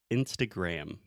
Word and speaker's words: Instagram: So the most important thing here, Alexia, você sabe o que é? Gram. Uhum. Aham, o M no final que você tem que fechar a boca. Isso é a minha namorada. So Instagram, close your mouth.